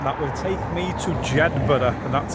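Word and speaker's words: Jedburgh: the bus stop that will take me to Jedber, and that's how it's pronounced, not Jedberg.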